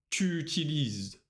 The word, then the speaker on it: utilises: Обращай внимание на форму «tu». Tu utilises. Без перерыва. Не «tu utilises», а «tu utilises». Мы связываем. Отлично.